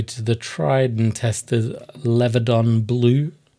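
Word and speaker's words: Leviadon Blue: We then go to the tried and tested Levadon Blue. I actually said it right that time. I think this is going to be the first video where I didn't call it Leviathan.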